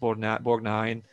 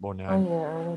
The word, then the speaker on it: Borgnine: was a very famous movie, and with Ernest Borgnine, as you pronounce it, Ernest Borgnine, the famous McHale's Navy.